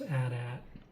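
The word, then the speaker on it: AT-AT: You got your Adat. And yes, it is pronounced Adat.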